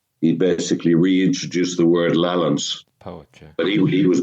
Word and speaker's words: Lallans: The old pronunciation and spelling of lowlands was lowlands, lallands. Uh-huh. Actually, the Scottish language history magazine is called Lallans, Lallans.